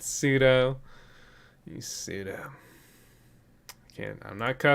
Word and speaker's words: pseudo: so uber spidey says that's not how you say all right call me out live i can't even spell it either pseudo oh man all right pseudo i've been saying that wrong i was saying that wrong for years pseudo who the hell